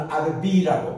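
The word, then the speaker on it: רביעי: 네 번째는 아르바인데 여기는 아르비라고 발음하고 여기는 카미샤인데 여기는 카미시라고 서수.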